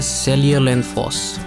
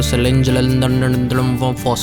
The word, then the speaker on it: Seljalandsfoss: पहली वाटरफॉल जो बड़ी फेमस है उसका नाम है सेलियर फॉस। अब प्रोनाउंसिएशन बहुत मुश्किल है, ये अगर आप स्पेलिंग पढ़ें तो सेलेंजलम फॉस लगता है।